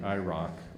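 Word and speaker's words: IROCP: use was tied to the IRA or IR o CP which doesn't sound like Ira at all uh when it's spelled out but um that's what we call it internally in the department and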